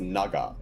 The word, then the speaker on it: 流: So this kanji is pronounced naga, and obviously the hiragana that comes after it is part of the verb here.